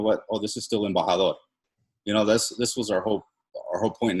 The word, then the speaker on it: Embajador: hard to pronounce, but, I always tell people it's like the E is silent. So it's like M, and then like Baja, California, Baja, and then like a door, right?